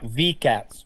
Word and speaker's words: VCATs: and with the company, is it still vecats? Is that the way I'm pronouncing it right or? Yeah, VCATs.